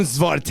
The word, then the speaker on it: Svorten: Svorten.